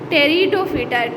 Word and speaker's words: Pteridophyta: the third one is Pteridophyta. Pteridophyta में जो start में P है, P साइलेंट है, इस वजह से हम इसको क्या कहते हैं, Pteridophyta।